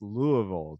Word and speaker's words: Louisville: So it's pronounced Louisville to the locals.